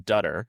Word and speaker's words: Dutter: I'm I'm Dutter. It's like butter with a D, I always say.